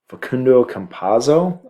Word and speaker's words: Facundo Campazzo: And then they also signed Facundo Campazzo. I believe that's how it's pronounced.